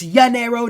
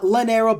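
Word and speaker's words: llanero: i finally learned that the two l's are not pronounced in spanish it's yanero not leonero but the yen arrow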